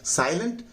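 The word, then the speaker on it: silent: साई पर जोर लगाइए और लेंट को है ना हल्का बोल दीजिए।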